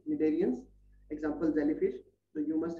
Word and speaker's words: cnidarians: So cnidarians, C is silent here, cnidarians, example jellyfish.